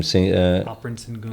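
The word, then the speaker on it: Alperen Şengün: Alperen Sengun. Alperen Sengun. Yeah. Do you do that trade? Alperen Sengun for Giannis. Yes. Some people are arguing against it because they're saying Alperen Sengun is like a Joker light.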